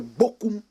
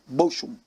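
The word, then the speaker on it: Bochum: we call it the Boku disaster even though the correct pronunciation was motion Ghanaian said it's like broken disaster they played it in a city in Germany called boshum b-o-c-h-u-m Ghana scored the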